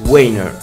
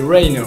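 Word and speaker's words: Rheiner: artiste suisse qui s'appelle Max Weiner. Je sais pas si ça se prononce comme ça, non? Si, c'est Rainer. Rainer, voilà.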